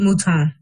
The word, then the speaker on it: Mouton: D.E.E.P Mouton.